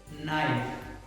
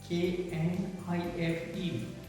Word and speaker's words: knife: K is silent.